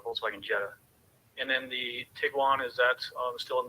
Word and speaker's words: Tiguan: there there's Harley's uh Jetta and there's the Tigo one you picked up the Tiguan pronunciation now too that motion that we see